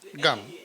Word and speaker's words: Ngom: Julie évidemment, Mario, madame Ngom. En fait, on prononce pas le N. Gom, Gum.